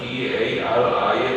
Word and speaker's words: 다리: 예를 들어서 우리가 다리라는 거를 발음하면은 D-A-R-I에 가깝게 발음을 해.